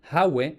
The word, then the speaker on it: Ave: Y de hecho sería relativamente frecuente pronunciar Hawe con aspiración, ya que parece un préstamo del púnico Hawe.